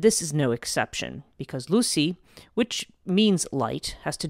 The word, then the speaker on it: Lussi: to do with a figure known as Lucy and it's spelled Lu SSI now Lucy is connected